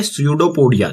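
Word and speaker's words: pseudopodia: यहां पर इसमें पी साइलेंट है, सो इसे कहा जाता है स्यूडोपोडिया।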